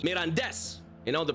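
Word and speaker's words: Mirandés: I think CD Mirandes I'm saying correctly because it's got the little thingy on the E. Mirandes.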